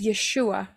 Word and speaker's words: Yeshua: Yin W Ain yang yang diucapkan adalah yesua and the pron pronunciation is yeshua Mengapa yahwe menjadi manusia